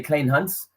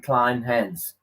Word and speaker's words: Kleynhans: In South Africa, we say Kleynhans, but to make it easier for people here, I always say, say Kleynhans, you know?